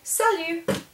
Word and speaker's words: salut: Then you can also say salut. Salut. And again, that T is not pronounced because it's not in careful.